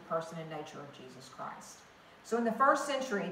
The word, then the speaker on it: Christ: proper British, who said, it is Christology, not Christology. It is Christ, not Chris. You will never pronounce it that way in my classroom.